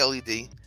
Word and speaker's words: LED: putting it out there does anyone here pronounce LED light bulbs lead lights like the metal lead no no I always say LED speaking of intervention ban